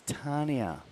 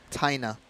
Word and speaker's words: Taina: And the T is Tania. Taina. Taina, is it? Yeah.